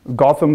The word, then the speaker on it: Gautam: have seen this before Gotham is pronounced as in Batman like Gotham like Gotham City and is